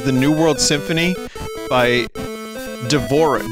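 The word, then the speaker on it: Dvořák: New World Symphony by devorah Dvorak I believe is how you say that that's right Dvorak culture awful screen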